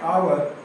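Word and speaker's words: hour: इसको बोल रहे हैं आवर एच तो दिया है लेकिन एच को साइलेंट रखा जाता है इसका करेक्ट प्रोनाउंसिएशन क्या है बहुत से लोग हावर बोलते हैं लेकिन हावर गलत है।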